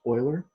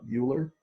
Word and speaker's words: Euler: a Swiss mathematician and boolean hard Euler it's pronounced Euler not Euler and and it represents a few different things